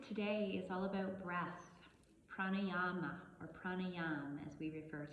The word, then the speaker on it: pranayama: or vital life energy and the pranayama we actually pronounce it pranayama the pranayama practice is